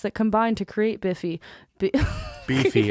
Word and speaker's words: Beefy: Beefy, it's pronounced Beefy.